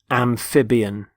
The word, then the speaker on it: amphibian: first word is amphibian amphibian notice the stress on the middle syllable amphib amphibian they're animals such as frogs